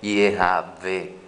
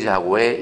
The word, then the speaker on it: Yahweh: Yahweh no es uno de los nombres de Akadosh Baruj Hu. No es la correcta pronunciación. Si se hace pronunciar esas cuatro letras, se dice Yehavé, Yehavé, Yehavé.